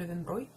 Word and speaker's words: Löwenbräu: Löwenbräu, который на самом деле вообще произносится правильно Löwenbräu.